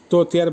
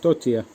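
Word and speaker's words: тётя: তারপরে আসছে তোতিয়া, আবার যে ইয়া লাস্টে, তোতিয়ার বাংলা হবে খালা, চাচি, ফুফু, উচ্চারণ তোতিয়া। উচ্চারণটা অনেকটা এই জায়গাটা চের মতো উচ্চারণ, তোতিয়া।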